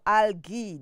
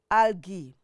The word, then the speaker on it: algae: We also have algae or algae, the way you can pronounce it, algae.